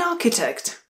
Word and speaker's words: architect: An architect. An architect. Pozor, nevyslovuje se ch, i když se tam píše, vyslovuje se k.